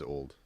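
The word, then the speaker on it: auld: Lang Syne oddly so the first word is spelled funny but it's just please it's just old old it's a weird way to spell old okay this is good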